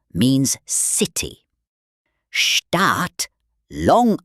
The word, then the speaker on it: Staat: A double vowel like A or a silent H often means it's long, like in Staat or Hün.